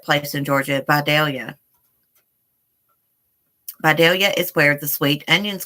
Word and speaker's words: Vidalia: my favorite and I think I tell you pronounce that place in Georgia at Vidalia Vidalia is where the sweet onions come from thank